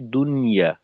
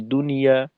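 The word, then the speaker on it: دنيا: যেমনটা কিনা আমরা বাংলায় বলি দুনিয়া, দুনিয়া, দুনিয়া না, আসলে শব্দটা হলো দুনিয়া।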